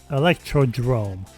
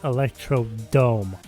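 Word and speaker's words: Electrodrome: Number eight, Electro Drrome, which I cannot believe that's how you pronounce it. I always pronounced this track as Electrod dome for like eight years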